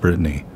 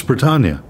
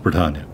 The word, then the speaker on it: Bretagne: No, it is not pronounced Brittany. It's Bretagne. Or if you're French, it's pronounced differently than that, but for an American saying a French word, it's pronounced Bretagne.